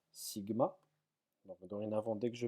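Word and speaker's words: σ: Alors mu pour nous, ça sera, enfin mu, cette lettre-là se prononce mu, pardon. Celle-ci se prononce sigma.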